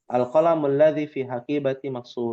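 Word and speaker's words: القلم: yang harus diluruskan nih bukan alqam lamnya gak panjang alqamun seperti itu apa artinya apa Pen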